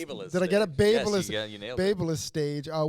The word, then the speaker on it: BaByliss: Babyliss.